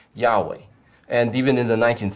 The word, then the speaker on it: Yahweh: And so from that type of a study, the scholars have concluded that the most accurate way would be to render that word, to read that word, the name of God, as Yahweh.